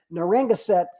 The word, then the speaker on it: Narragansett: Louis Council, our good friends, National Capital Area, Golden Gate, Indian Nations, Daniel Webster, Atlanta area, Capital Area, Narragansett, Connecticut Rivers. By the way, I pronounced that a lot better than Gina did last week.